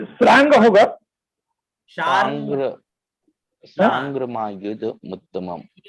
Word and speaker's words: शार्ङ्ग: ये जो र है ये हल्का र है और ग है ना। शार्ंग मायुध, शार्ंग, यहाँ ग का भी अंग का भी और ग का साथ में उच्चारण होगा। शार्ंग, शार्ंग। अगर शार र पूरा बोलोगे तो छंद भंग हुआ ना।